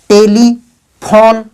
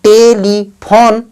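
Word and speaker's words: telephone: हमको ये नहीं पढ़ना है, ई साइलेंट है, तो टेलीफोन ना कि टेलीफोनी।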